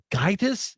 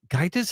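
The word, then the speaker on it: Gaïtas: Gaitis, G-A-I, but it's the I with the 2 umlauts on it, a T-A-S. Gaitis, I think it is how you say that.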